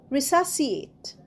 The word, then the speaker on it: resuscitate: রিসাসিয়েট। এখানেও দেখো সি এর উচ্চারণ হবে না, রিসাসিয়েট।